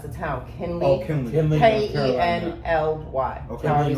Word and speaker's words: Kenly: North Carolina, Kinley, I believe is how you say it. And that's her name? No, that's the town. Kinley. Oh, Kinley. Kenly.